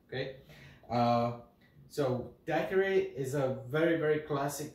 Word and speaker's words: daiquiri: So in the Spanish-speaking countries and the country of origin, which is Cuba, and also in Europe, they pronounce it daiquiri. In the United States, daiquiri. I'm from Europe, live here in the States, so I'm gonna go somewhere like between like daiquiri, something like that, okay?